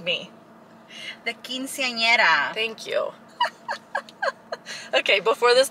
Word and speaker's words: quinceañera: The quinceañera.